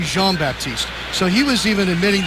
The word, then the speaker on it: Jean-Baptiste: Stanley Jean-Baptiste on defense there, Joel. JD asked him earlier this week, so how do you pronounce your name? He said it's Stanley Jean-Baptiste, but I know it should be Jean-Baptiste.